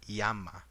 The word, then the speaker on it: llama: is the word u the word llama you would actually say this as yama or uh a word